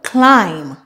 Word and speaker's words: climb: a silent B typically whenever you have m and b at the end of a word the B at the end is silent I will also look